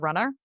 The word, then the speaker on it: Runnah: One is a solo podcast that I do called Runnah, Runnah, which is how you pronounce it in Massachusetts.